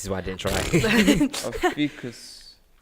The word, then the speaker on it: Ophiuchus: How do you pronounce that? This is why I didn't try. Ophiuchus.